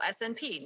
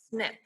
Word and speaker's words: SNP: tempted to say oh snp no actually it's pronounced snip i don't know why but in genetic genealogy the letters snp is pronounced snip um it stands for